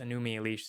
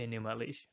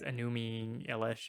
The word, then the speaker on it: Enuma Elish: just copies of the Enuma Elish, which he says Enumi Elish. I don't know. It's pronouncing it strange.